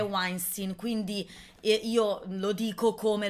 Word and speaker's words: Weinstein: mio l'ho sempre detto weinstein Ma perché in tedesco si legge così poi invece in America è weinstein quindi io lo dico